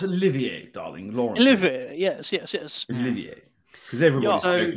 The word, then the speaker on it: Olivier: I didn't even fucking know how to pronounce his last name. So, Laurence Olivier, darling. Laurence Olivier. Yes. Olivier.